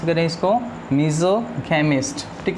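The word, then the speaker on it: misogamist: मिसोगेमिस्ट, मीज़ोगैमिस्ट, ध्यान से प्रोनाउंस करें इसको, मीज़ोगैमिस्ट, ठीक है।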